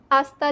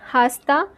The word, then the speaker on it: hasta: Not hasta because I told you that h is silent in Spanish.